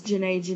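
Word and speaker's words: Djenné: the most famous was Jene in Niger Valley civilization. A lot of resources spell it with the silent D at the beginning.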